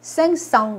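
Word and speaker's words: cinq cents: 그럼 500이라고 할 때는 생끄 썽이라고 하지 않고요. 생썽 이렇게 얘기를 합니다.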